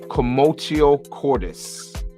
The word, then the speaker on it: Commotio Cordis: I want to pronounce it correctly. It's known as Commotio Cordis. Commotio Cordis.